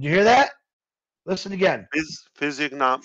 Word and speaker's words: physiognomy: Physiognomy. It's pronounced physiognomy.